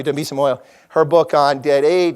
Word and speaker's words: Dambisa Moyo: Damiya Moiso's, excuse me, I always get her name wrong. Thank you, Dambisa Moyo.